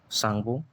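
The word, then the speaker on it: Tsangpo: Inter सांगो T silent है। जैसे सुनामी में टी साइलेंट होता है।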